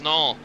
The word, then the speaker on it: Nall: Looks like Nail, but it is not. It is Nall.